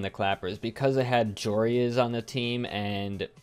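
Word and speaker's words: Joreuz: And I just learned it's pronounced Jorias, not Joras.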